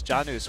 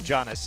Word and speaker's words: Janus: I appreciated that he So said Janus' name is Janus, which is how you pronounce it in real Latin. Wow. Nice. But is it how you pronounce it in Overwatch? No, we would say Janus in English.